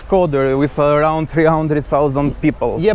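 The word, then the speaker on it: Shkodër: Skodër. Skodër. Because really Albanians like try to pronounce Shqipëri.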